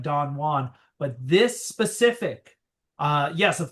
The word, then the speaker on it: Don Juan: Well, I have no idea if other English people, but Byron very famously pronounced it Don Juan. That's right. That's Byron's English. And that is the author's preference. And so that's how we say it.